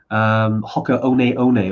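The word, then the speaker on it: Hoka One One: Hoka One, although it's spelled Hoka 1-1. It took us about 12 months to realize how to actually say that.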